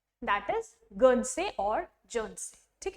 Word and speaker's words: Guernsey: तो English channel में ये आइलैंड है, दैट इज गर्नसे और जर्नसे, ठीक है, विद स्पेलिंग GUERNSEY, ध्यान रखना है।